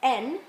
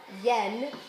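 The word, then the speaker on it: 円: one we've got is n uh you know we normally will say Yen when we pronounce it with that y but actually it's best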